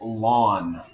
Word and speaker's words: ln: now this is called lawn you pronounce it l a w n as though it's like your front lawn this is actually a